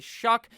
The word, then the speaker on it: Shough: name looks like tyler shall but apparently based on what i've been looking at how the announcers say it his name is actually shuck like you're when you're